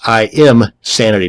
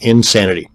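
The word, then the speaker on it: Imsanity: another one is insanity that's i am sanity not insanity both of these once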